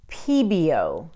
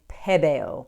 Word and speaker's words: Pebeo: And it's actually, I was right, and I was pronouncing it correctly when I was saying Pebeo because it's French.